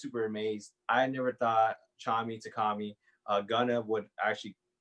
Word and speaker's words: Tchami: now correct me if i'm wrong uh by chami featuring ghana correct yeah yeah actually you actually said it right a lot of people say takami i i tend to say it too um